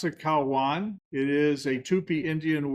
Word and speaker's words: Caua: You pronounce it Kwan.